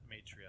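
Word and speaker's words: Maitreya: M matria M AI t r y a matria that's right yeah um um who who would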